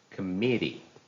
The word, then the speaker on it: committee: m m i t e e the correct pronunciation is committee so the stresses in the second syllable what